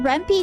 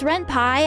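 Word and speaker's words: Ren'Py: Um is it Reny? No, it's Ren Pie. I say it wrong because uh I think Rempy sounds better. I think Rempy sounds cuter and better. So yeah, but it is Ren Pie because it's like a Python program or whatever.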